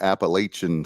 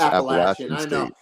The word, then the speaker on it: Appalachian: name of the Mountaineers it's not Appalachian State it's appach and that's you know and